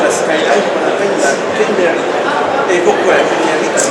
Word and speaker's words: Kenmeri: Et donc, les Japonais l'ont appelé la Kenmeri. La prononciation exacte, c'est Tout à fait, Kenmeri. Kenmeri. Oui, c'est ça.